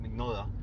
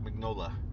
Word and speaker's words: Mignola: told a precise story but then again mike mcnula big nola you know what mike mignola yeah i think that's well that's not how